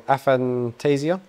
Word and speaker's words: aphantasia: correct me if I'm saying it wrong aphantasia am I saying it right yeah yeah okay